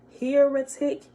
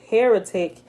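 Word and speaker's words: hieratic: is called sacred higher higher hierarchy hierarchic heroic i said that wrong h i e r a t i c while that which is called sacred heretic is understood only by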